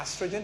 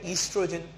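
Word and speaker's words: estrogen: अच्छा, इस एस्ट्रोजन या ईस्ट्रोजन, ठीक है, जो आप लोग पढ़ते हो, जो भी नाम से आप प्रोनाउंस करना चाहो, ठीक है। मैं एस्ट्रोजन मुझे अच्छा लगता है तो मैं एस्ट्रोजन प्रोनाउंस करता हूँ, आप ईस्ट्रोजन करना चाहो तो ईस्ट्रोजन कर सकते हो।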